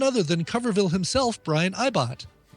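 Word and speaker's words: Ibbott: Recently, on episode 33, they interviewed none other than Coverville himself, Brian Ibott. Ibott. Never heard of that guy. That's how it's pronounced. Yeah. I think it's Ibott, yeah. It's Ibott.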